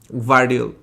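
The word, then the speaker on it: Gvardiol: can't pronounce his name, Gravidol, right, something like that. Vardiol. Huh? Vardiol. The G is silent আর কি, Vardiol.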